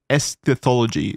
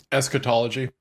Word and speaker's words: eschatology: one's spiritual goals and esthology is that how I pronounce that esthology eschatology that's it yeah so um I'm